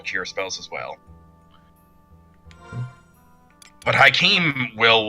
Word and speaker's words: Joachim: That's how it's Hakeem. It's Yes. Hakeem, yeah. Good Christ, that's spelled weird. Yeah. It's a real world name, but yeah, that's how it's said.